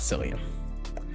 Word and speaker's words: Cillian: It's Cillian, not Cillian.